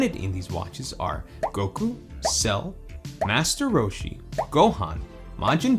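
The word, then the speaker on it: 悟: Goku's version has a large kanji character printed on the dial that's pronounced Go, and it means wisdom.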